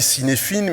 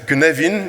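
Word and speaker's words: Cynefin: mais c'est le modèle alors on lit cinéphine mais on ça se prononce que navine c'est du gaélique qui était développé par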